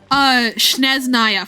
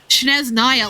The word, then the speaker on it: Snezhnaya: So, like, it's not unbelievable that even though, yeah, the spelling was pretty obviously Snezhnaya, that they just pronounced it Sneznaya because they can.